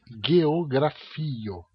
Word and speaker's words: geografio: O G é sempre G. Por exemplo, a palavra geografia em Esperanto é geografio.